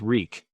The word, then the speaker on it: Reek: His name was Reek. He had to remember that. Reek, Reek. It rhymes with leek.